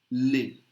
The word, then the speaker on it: les: masculine feminine plural both the pronunciation look la Li don't pronounce the S live la Li okay and